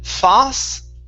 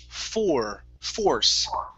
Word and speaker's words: force: Okay, instead of fas, Okay, curve the tongue up to pronounce the R. Force.